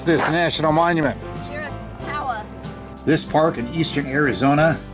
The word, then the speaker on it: Chiricahua: Okay, girls, who can pronounce this national monument? Chiricahua.